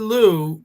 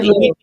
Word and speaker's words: Lieu: You mean Lieu. Lieu. Yeah. Don't spell it like it sounds.